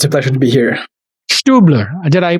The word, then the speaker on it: Stübler: Stübler. Did I pronunciate it? Did I get close to the pronunciation there? Stübler? That was close. It's a German name, so I would probably say Stübler, but Stübler.